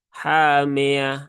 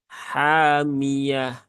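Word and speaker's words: حامية: yang dah itu u jadi bukan hamah ya tapi hami hamiah ya kemudian yanya juga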